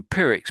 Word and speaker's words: Pyrrhic: So, so your pirick's pretty good.